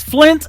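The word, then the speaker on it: Flynt: His name is Flint Adams. It is spelled a little bit different. It is F L Y N T and uh Hope Came to Save the World.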